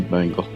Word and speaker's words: Bengal: It's a Bengal. It's pronounced Bengal.